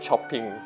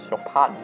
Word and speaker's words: Chopin: Like, I used to call it chopping, or like Chopin, or like, you know, but the actual pronunciation is actually Chopin in French.